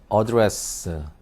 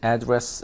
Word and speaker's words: address: 있는 것에 대해서 자, address 그러니까 이게 명사를 쓸 땐 address 하고 발음되고 되고 동사를 쓸 땐 address 하고 이렇게 강세가 뒤로 가고 또 이제 relative 같은